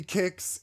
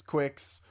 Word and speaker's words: Qix: Yeah, it it could be kicks. In the Japanese version, they do call it kuix. So kicks quicks. I think it's all fair game, but um I pronounce it like the breakfast cereal.